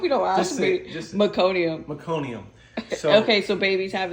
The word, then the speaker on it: meconium: really dark nasty tar um poop it's called meconium did I say it right we Disorder so many times I don't even know at this point I'm like I hope you don't ask me just meconium meconium okay so babies have is two it's